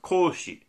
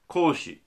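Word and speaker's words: 孔子: confucius all right uh the chinese name i don't know how to pronounce but in japanese it's pronounced koshi koshi all right so he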